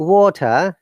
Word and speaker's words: water: So in water, look, T is pronounced, R is silent because it is British IPA. But Americans will say that water. T should be sound like D and R is prominent. So R should be pronounced.